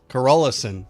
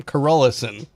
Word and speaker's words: Carolissen: Carolissen, that's how you say his name, Carolissen. You can tell I'm from the United States because I was saying Carolissen.